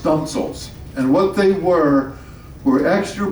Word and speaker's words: studding sails: And my favorite here is Victory had what we call studding sails, pronounced stunsails.